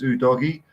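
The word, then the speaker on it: Udogie: otherwise Chris I trust I trust Chris met a football's TV pronunciation though he seems to put effort into it so if he says it's who doggy I'm gonna go doggy for a while real promising man yes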